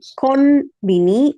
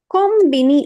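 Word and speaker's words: コンビニ: If you have the following kana sound, in that case you will pronounce it with m. So you can pronounce this as n, konbini, or kombini also okay, because the third katakana is b.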